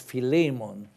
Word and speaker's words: Philemon: or the greeks and people with the knowledge of greek tell me that in greek it really should be pronounced philemon but whichever way you